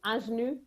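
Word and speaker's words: Ingénue: So it's Ingenue. Okay. I'm gonna have to get back my French diploma. I think it's sorry Ingenue.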